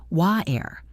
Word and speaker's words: water: In British English, they often say water with a glottal stop, where the T is barely pronounced, wa-er.